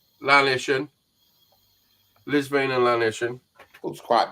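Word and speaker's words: Llanishen: Liz, I'm not pronouncing this right. Lizavan and Lanniston reservoirs. Lisvane and Lanishon.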